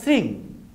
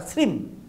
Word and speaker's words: শ্রীং: ম, যে কোনো একটা, উচ্চারণটা হবে শ্রীং বা শ্রীম।